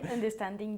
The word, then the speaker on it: understanding: Bien, ten cuidado con tu pronunciación de understanding. Understanding. Tú estabas diciendo understanding, ¿ok? Understanding. Understanding. Una vez más es este sonido de A que creamos bajando la mandíbula, ¿ok?